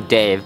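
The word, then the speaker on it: Dev: So my name's actually Dave. It's pronounced, but it is spelled D-E-V, but it's pronounced Dave. Because in India, the E makes the A sound.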